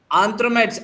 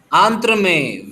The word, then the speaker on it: entremets: आंथ्रोमेट्स। अब आप इसको प्रोनाउंस करते वक्त लास्ट का TS साइलेंट कर देंगे, तो कैसे बोलेंगे? आंत्र में। Very nice. सो लास्ट का T और S साइलेंट कर देना है।